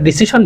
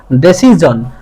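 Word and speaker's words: decision: আসলে ডিসিশন বলবো না। এটা হচ্ছে ডেসিজন।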